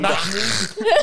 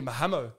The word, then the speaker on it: Mahmoud: Mahmoud. Yeah. They say his name, they have to. They just don't know how to say it. And some guy called me Mahamo.